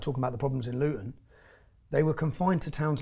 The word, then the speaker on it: Luton: Luton Luton, we don't pronounce our T's in Luton, but Luton is 30 miles north of London.